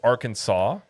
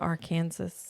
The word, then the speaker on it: Arkansas: in front of it, but yet you pronounce it different. Why isn't it R Kansas?